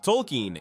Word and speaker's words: Tolkien: There is no pronunciation difference between Token and Tolkien in the way the show voices the name.